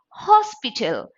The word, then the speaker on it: hospital: Hotel it cannot say Hospital it is Hospital hospital hotel so in these two cases you cannot use an instead you have to use a because H is also pronounced it is Hotel not